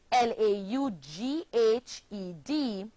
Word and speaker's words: laughed: the past tense verb la ugh Edie and it's pronounced laughed forming only one syllable another one the verb